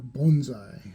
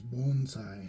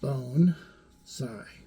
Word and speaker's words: bonsai: specifically to Bonsai uh or bonai as they call it um U that is the correct way to say it apparently is bonai so bone saigh right uh which literally translates